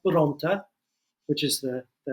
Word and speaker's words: Bronte: But my grandparents are from a town in Sicily called Bronte, which is the pronunciation of that.